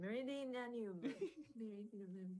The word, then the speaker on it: Meridianum: And then of course, the Praetorium and the Castrum Meridian, sorry, I can't pronounce it. Meridianum.